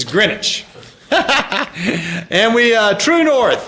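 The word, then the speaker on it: Greenwich: famous green witch grenwich you're saying a uneducated American pronunciation of green witch how do you how do you pronounce presscot so it the proper way to pronounce green witch is greinwich and we uh True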